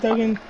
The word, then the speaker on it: Duggan: Yeah, it's Duggan.